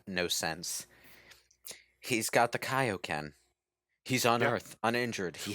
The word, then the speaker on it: Kaio-ken: This movie was the first to pronounce Kaio-Ken correctly. Yeah. Because of the TV show. Oh, yeah, it was Kaio-Ken. They called it I Kaio-Ken.